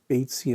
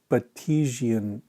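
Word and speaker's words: Batesian: going to show you he repeatedly mispronounces baitsy and mimicry as batisian mimicry i shouldn't laugh though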